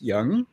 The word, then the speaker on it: Yang: yeah yeah can say Yang you know apparently uh the spelling you know it's pronounced young that's okay yeah it's y a n g and apparently the proper pronunciation is Young okay okay so got